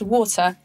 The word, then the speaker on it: water: uk english it's pronounced water and not water like in the us this first syllable is stressed and so the second syllable becomes weak just like a schwa how do we know